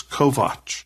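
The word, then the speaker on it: Kovacs: still remember I said, "Your name is Kovatch. K O V A Cs." He said, "That's the correct pronunciation.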